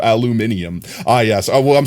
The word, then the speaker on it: aluminium: You should be peeling the aluminum foil and eating the burrito. Have I been eating burritos wrong this whole time? Anyway. Aluminum is also light metal. No, not aluminum, aluminium.